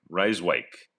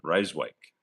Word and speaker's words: Rijswijk: Rijswijk. Rijswijk. Rijswijk. Rijswijk. Let's go with that. Rijswijk.